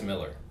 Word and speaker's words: Millar: Millar is the correct pronunciation. Is how we're to pronounce it? It's Miller.